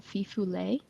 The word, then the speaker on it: fifolet: one of those is called the fifu um it's spelled like fifolet um okay but it